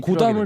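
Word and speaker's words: Gotham: 필요하게 배트맨이 고담을 필요하게 자꾸 고쌈이라고 그래. 고쌈. 쌈 싸먹어야 되나? TH. TH 쓰리 발음. 근데 고쌈. 듣기가 근데 너무 어려운 거야. 우리는 고쌈 하지 말고 고담 이러는데 우리 자꾸 원할머니 고쌈 같잖아요. 고쌈. 그러니까 고담으로 합시다. 우리는.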